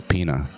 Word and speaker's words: Pina: There's no little squiggly accent on the end. It's Pina.